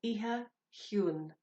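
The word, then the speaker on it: Oíche Chiúin: I'm hoping that you know the melody of Silent Night, but I am going to go through the pronunciation. Okay, so Iha Huan.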